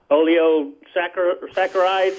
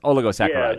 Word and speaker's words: oligosaccharides: I guess they're in the category of how you pronounce it, oleosaccharides. Fructooligosaccharides. There you go. Yes, oligosaccharides.